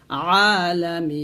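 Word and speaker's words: ٱلْعَٰلَمِينَ: মিম ইয়াজের মিন উন জবন্না, আলামিনা। এখানে এই যে আইন উচ্চারণটা একটু চাপ দিয়ে বলবেন, এরকম, তাহলে হবে আলহামদুলিল্লাহি রব্বিল আলামিন।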